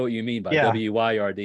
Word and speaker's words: wyrd: I know what you mean by yeah, WYRD, yeah, like weird.